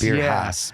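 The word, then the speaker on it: Beer Haus: And I think it's spelled H-A-U-S. Beer House.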